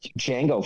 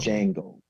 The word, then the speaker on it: Django: Django from Django Unchained. The D is silent.